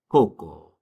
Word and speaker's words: coco: A c a c or a cu, they're going to sound like the c in the in the word cool.